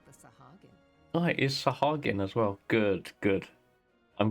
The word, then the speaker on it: Sahagin: Oh, it is Sahagin as well. Good, good. I'm glad when my pronunciations have been correct.